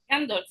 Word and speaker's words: Gandolfi: E eu recebo aqui o Carlo Pinchetti e a Linda Gandalf. Did I say it right, guys? Linda Gandalf. Is that it? Gandolfi, yes.